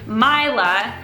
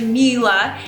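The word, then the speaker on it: Mila: For example, I called this poor woman My-la. I'm super embarrassed it was actually Me-la.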